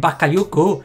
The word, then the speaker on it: Bakayoko: That's, I think, how you say it, Bakayoko.